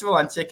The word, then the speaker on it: Valencic: But I don't know why people have the hardest time getting the name Valencic correct. And I'm like, it's only 3 syllables, you guys. But I am Valencic, and I am currently